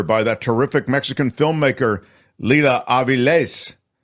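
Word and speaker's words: Lila Avilés: that terrific Mexican filmmaker Leela AES thank you for the proper pronunciation it has the accent at the end there so that's why I did that I will tell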